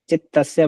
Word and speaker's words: चित्तस्य: संजना जीस ज्ञाता ज्ञात चितस्य नहीं बोलना गुड़िया चित्तस्य बोलना इसको तदुपरागा अपेक्षितस वस्तु